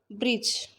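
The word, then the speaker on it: bridge: ब्रिज, D silent है।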